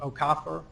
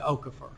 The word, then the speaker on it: Okafor: And it sounds like you pronounce it the way his Nigerian relatives do, Okafor, Yes. as opposed to Okafor.